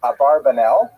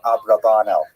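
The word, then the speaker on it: Abravanel: Oh, I should mention, by the way, many people pronounce this name uh Abarbanel.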